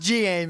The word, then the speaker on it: Gaim: It's pronounced Gaim as far as I'm concerned, and Yeah. Gaim people can die in a fire. I agree with Rim. It is Gaim. Because game sounds lame.